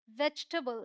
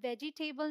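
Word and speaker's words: vegetable: Bridge, change, gene, hate, like, love, please, वेजिटेबल, यहाँ पे ये तो साइलेंट है ही, यहाँ हम इस वाले ई को भी साइलेंट ही मानते हैं। इसे हम वेजिटेबल नहीं बोलते, वेजिटेबल बोलते हैं, वेजिटेबल, ऑल राइट।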